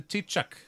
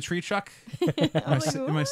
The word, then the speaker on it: Taoiseach: Sinéad and be like, so how about the Taoiseach? The tree chuck?